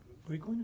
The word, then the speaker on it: Brickland: I don't think I know Representative Brickland, is that how you pronounce it? That's correct.